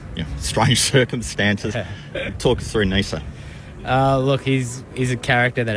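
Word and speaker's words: Neser: So I think for Nisa to, it's funny, everyone's saying Nisa. I think he's told everyone that that's how you say it. I've been calling him Ness the whole time, so it's really hard for me to say Nisa.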